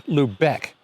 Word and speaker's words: Lubec: It's Lubec, and a lot of places in Maine end with BEC and those are Native American words. But this one is actually named after a German town.